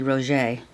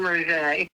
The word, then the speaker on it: Rougeux: I wonder why we are in the media saying Rougeux when it's really Roger.